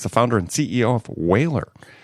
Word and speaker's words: Whalr: He's the founder and CEO of Whalr. That's spelled W-H-A-L-R, no E there.